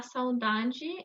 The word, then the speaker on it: saudade: A saudade é a nossa alma dizendo para onde ela quer voltar.